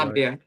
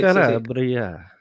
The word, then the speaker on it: Calabria: Nicola here is also from the south, Calabria. Did I pronounce that right? Calabria. That's it. Calabria.